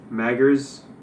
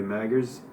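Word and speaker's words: Magrs: stardust and snow by paul m-a-g-r-s maggers i don't want to be disrespectful and mispronounce it so it looks like it's probably maggers and if you want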